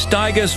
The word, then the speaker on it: Stigers: Here's Curtis Stigers, Rhymes with Tigers.